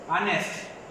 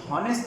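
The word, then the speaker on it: honest: जैसे ऑनेस्ट, ये हॉनेस्ट नहीं है, ये ऑनेस्ट है, यहाँ एच जो है ये साइलेंट है, इस वजह से हम कहेंगे एन ऑनेस्ट, ना के ए ऑनेस्ट।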